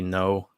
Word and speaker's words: Ngo: got to look up andy no and it's spelled ngo he's been covering antifa since like 2016.